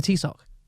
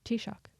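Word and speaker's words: Taoiseach: man is he the t- sock no oh and that's not how you pronounce that how do you pronounce it t-shock that's what I [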